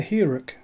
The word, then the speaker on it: Hearach: it's another Scottish Distillery it is the her which is how have decided to pronounce that and the first thing